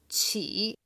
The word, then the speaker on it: 起: this kind of thing, the word here is qī. So, so it's spelled Qi with third tone.